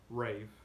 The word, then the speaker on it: Raph: And last but not least, we have Rave, or Raph, or yeah, I'm pretty sure that's how you say it. It's Raph.